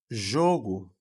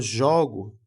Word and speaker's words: jogo: Quando eu falo jogo, esse o aqui, ó, primeiro o, jo, ele é mais fechado. E quando eu falo jogo, do verbo, ele é mais aberto, certo?